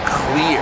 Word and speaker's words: CLR: CLR is clear is the way they're going to pronounce it there.